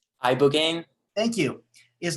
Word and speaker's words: ibogaine: Ibogaine.